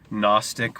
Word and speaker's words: gnostic: the gnostic Society library gnostic with the silent G like the silent K at the beginning of our word knowledge both meaning knowledge gnosis